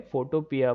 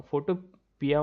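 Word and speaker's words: Photopea: रहा हूँ, साइट है फोटोपिया बोल के। ठीक है, फोटोपिया हाँ डॉट हाँ। कॉम। फोटोपिया मतलब पी, पिया नहीं है एक्चुअली, फोटो पी है वो, PEA है।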